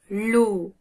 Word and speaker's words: l'eau: De l'eau. De l'eau. De l'eau. De l'eau. C'est comme si vous prononciez la lettre O, l'eau.